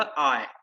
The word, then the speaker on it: I: तो इसको कृपया करके आज के बाद से कोई भी आई नहीं बोलेगा, ये सिर्फ बोला जाएगा आय।